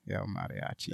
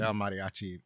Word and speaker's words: El Mariachi: So and the pronunciation of his title is El Mariachi. El Mariachi. El Mariachi, and that's in reference to the first movie.